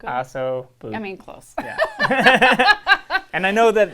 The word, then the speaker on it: ossobuco: I can never pronounce it right. Let's have you do it. Osobuco. Ossobuco? Osobuco.